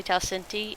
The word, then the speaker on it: Talcinti: Talcinti's name is actually Talcinti, and for some reason I always add an A at the end.